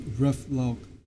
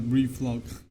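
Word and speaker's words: reflog: Pro pronounce ref log. Not relog.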